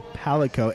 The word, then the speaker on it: Palico: So hey, I mispronounced that so many friggin' times, and I hate It's a myself for it. Palico. It's a Palico, and you can get your